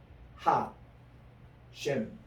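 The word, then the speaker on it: השם: 이제 하셴이라는 말은 따로 있거든요. 하, 셴 이렇게 나옵니다. 이게 하, 그 이름 할 때 이게 다시 보면 하, 셴이에요. 이 셴이 이름이란 뜻이거든요. 우리 따라합시다. 셴. 셴. 이 하셴이라고 발음해요.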